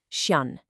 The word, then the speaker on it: chien: For chien, it's a nasal sound at the end. You literally do not pronounce the N. It's chien.